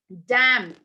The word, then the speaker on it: damn: upon M and uh n goes silent in these words N okay it goes Sil ENT in these words damn condemn column autum and